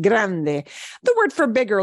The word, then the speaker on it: grande: combination Grande okay and notice that at the end there are no silent E's so we pronounce it Grande the word for big